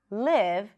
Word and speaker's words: live: to live here, and maybe I will mispronounce the I and pronounce it more like an E sound, neutral E sound. And what I might end up saying is, I'm going to leave here.